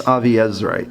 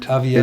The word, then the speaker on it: Aviezrite: I think that would be pronounced Aviezrite. Aviezrite. It's Yoash Avi Ha'ezri, meaning Belonged to Yoash. the Avizazri. Yoash from the Aviezer clan.